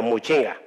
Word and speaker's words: Muchinga: Not Machinga. Muchinga pronunciation can be an issue here is actually he